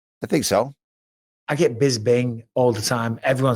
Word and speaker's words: Bisping: And for Michael, do more people pronounce your name with a B in the middle, Bisping? Or correctly with a P, Bisping?